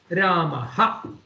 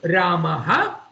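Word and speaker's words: रामः: it is pronounced as Ramaha. So at the end of Rama, Rama is an Akaranta Pullinga Shabdaha. When it comes at the end of an Akaranta Pullinga Shabdaha, it is pronounced as Ramaha.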